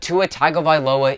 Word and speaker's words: Tua Tagovailoa: are on their bye week this week but tua tagovailoa is going to be a starter in the